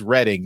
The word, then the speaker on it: Reading: And then he also says to let us know about the TF Nation minicon in Reading. He says it is Reading, not Reading, over in Berkshire.